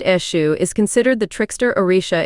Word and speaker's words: Eshu: Pronounced Eshu is considered the trickster Orisha in Yoruba tradition.